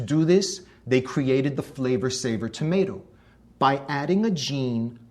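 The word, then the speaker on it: Flavr Savr: That's spelled F-L-A-V-R-S-A-V-R, Flavor Saver.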